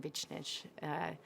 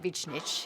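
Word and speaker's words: Višnjić: And Malcolm Barrett and Matt Lanter and I work really well together, and Goran Vichnich, that's how you say it, Vichnich, he taught me, and Sakina Jaffe and Claudia Delmeade and Patterson Joseph.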